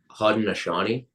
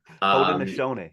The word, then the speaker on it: Haudenosaunee: Haudenosaunee. Haudenosaunee. I had such difficulty trying to pronounce that. It's hard until I heard you say it. Yeah. Oh, cool. Haudenosaunee.